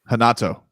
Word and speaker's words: Renato: Renato. It's Brazilian. That's why like Brazilians do R. R. They do like an R.